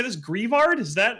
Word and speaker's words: Greavard: Greavard? Is that how you pronounce this? I've been saying Gravard. Gravard, probably like graveyard.